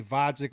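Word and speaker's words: Gvozdyk: to try to say vodik with a silent G was such a boogy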